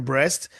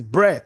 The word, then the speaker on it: Brest: I pronounced the name breast and I remember you know people ran into the studio and say no it's the tea silence is bre not breast and it was a